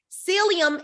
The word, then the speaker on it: psyllium: about to bless you celium is spelled PS y l l i u m husk celium p s y